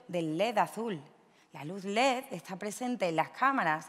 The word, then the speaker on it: ledes: Los ledes, que es como la RAE dice que tenemos que pronunciar el plural de la palabra “led”, fueron fabricados hace unos pocos años.